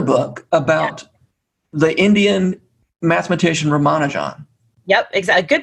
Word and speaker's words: Ramanujan: So some people say Ramanujan. That's the British pronunciation, but it's actually possible for us to say it correctly because it's 4 unstressed syllables, the way the Tamil people say it.